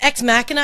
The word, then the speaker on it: Ex Machina: And it's Ex Machina. I've been pronouncing it wrong the entire time.